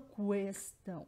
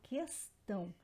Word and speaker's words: questão: Eu não pronuncio o U, então, e o QU é a mesma coisa, não tem a pronúncia do U, questão. Eu não falo questão, eu falo questão.